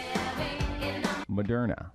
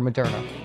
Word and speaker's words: Moderna: So we got, you know, we got more for Moderna. Moderna. Moderna. Yeah. Thank you, listeners. I stole these were thieved directly off Twitter. Moderna does not rhyme with Sharona.